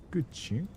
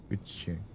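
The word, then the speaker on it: guqin: Is there a way to pronounce it here? Gucci. Is it good? Good ching.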